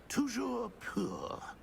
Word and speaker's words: Toujours pur: Toujours pur.